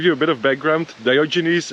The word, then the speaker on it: Diogenes: a bit of background diogenes is a British pronunciation of a Greek name and it's a Greek